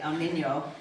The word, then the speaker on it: El Niño: I was told to pronounce that properly, El Niño, which is the drought that's about to hit us.